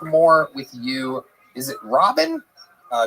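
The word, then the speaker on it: Rabin: Uh, it's pronounced Robin. Robin, but it's spelled R A B I N. So, it's spelled Raven. No, the A makes the same sound as the first syllable in amazing.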